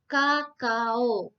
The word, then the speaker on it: Cacao: Cacao ya. Cacao itu diucapkan sebagai kakao. Nah, kemudian ada cola, cola.